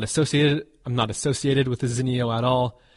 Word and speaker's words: Zinio: That's exactly what I did, and I found the Zinio channel and confirmed that it is, in fact, pronounced Zinio and not Zinio.